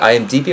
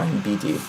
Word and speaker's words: IMDb: Is it IMDb or IMBD? IMDb. Internet Movie Database.